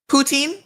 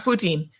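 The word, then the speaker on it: poutine: Canada's national disc is putine as in putine fries putine those pronounce poutin poutin like poutin fries that's our national that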